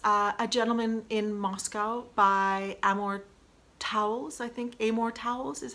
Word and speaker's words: Amor Towles: And my last book of 2019 was A Gentleman in Moscow by Amor Towles is how you pronounce his name.